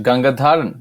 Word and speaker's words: Gangadharan: my name is ganga dharan that's how that's how my last name is pronounced it's uh DH all right it's kind